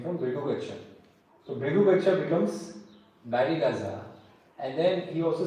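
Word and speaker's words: Barygaza: the name of Baraza Baraza what is Baraza Baraza is basically again a misprononunciation of the word briuga Brigumi used to stay in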